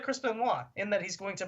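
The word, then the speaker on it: Benoit: Um, Chris Benwa. So, I know that's how you pronounce his last name, even though it's spelled B E N O T, right?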